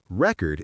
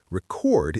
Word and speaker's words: record: For example, the word record can be a noun or a verb depending on where you put the stress. Record is a noun, like a music record. Record is a verb, like to record a video.